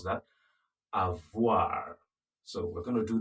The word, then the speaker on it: avoir: Remember how to pronounce that? Avoir.